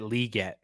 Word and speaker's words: Legette: it's like Xavier like I learned that Xavier Legette he pronounces it liette but I mean he